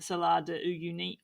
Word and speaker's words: Salar de Uyuni: And when we're talking about images, we're talking about salt flat deserts, the Salar de Uyuni. I never know if I'm pronouncing that correct, by the way.